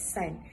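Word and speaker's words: 伞: a friend in Chinese the word umbrella is pronounced as sign and it literally means as a breakup or separation so offering an umbrella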